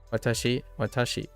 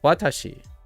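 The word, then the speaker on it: 私: in a pedantic of Watashi right Watashi as opposed to Watashi watashii watashii Watashi right and then it's not watashii Watashi going high low Watashi Watashi Watashi Watashi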